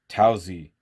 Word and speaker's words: Taozi: in it is the MS jo6 2sp tearin' taozi now I have been mispronouncing this forever I've been calling it the towels I like thinking it had an O in